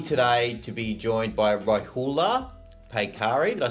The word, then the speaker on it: Rohullah Paykari: Lucky today to be joined by Rohullah Paykari.